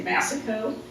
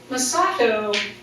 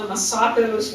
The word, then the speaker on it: Massaco: And of course, I'm from Cincinnati, so I always mispronounce words, and I used to say Massaco, because that just sounded right to me in my Midwestern kind of accent. But I've since learned, to kind of change the stress on the syllables.